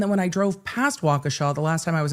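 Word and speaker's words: Wauwatosa: Um Jamie said, "Emily, thank you for pronouncing Wauaawa correctly. I only learned because of that trial." And then when I drove past Wakaaw the last time I was in Wisconsin, I'm like, I know a thing.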